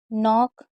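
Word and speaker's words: knock: कभी भी के एन साथ में होगा तो के को नहीं पढ़ेंगे। के और एन साथ में होगा तो के को नहीं पढ़ेंगे। जैसे night, knee, new, no, knife, नॉक, knit, नॉब, not, naughty,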